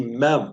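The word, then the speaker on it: מם: and this is the mem can you say mem is pronounced like the m in the English word magnet or we could say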